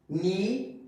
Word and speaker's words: knee: Now, if we talk about K, so remember this, at the beginning, okay, in the beginning of the word, okay, before N, K is silent, okay? Like knee, kneel, no, not, okay?